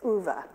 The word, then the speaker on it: Ove: called a man called ova I actually had to look up how to pronounce that Swedish name but it's ovah the central character in